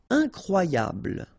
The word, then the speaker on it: incroyable: Incroyable. Okay, same thing here for the final E. Don't pronounce it. So, incroyable. Incroyable.